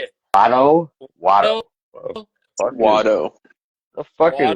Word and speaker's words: Watto: because like it's like Watu. How do you say it? Watto? Watto, Watto.